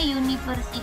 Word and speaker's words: university: University, cara bacanya university ini pakai y di depannya, jadi university.